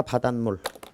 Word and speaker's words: 바닷물: 사이시옷 뒤에 미음이 결합됐으니까 바닷물. 자, 그래서 20번 마지막 문제는 바다 플러스 물인데 미음이니까 요게 이제 니은으로 발음이 된다는 뜻이야.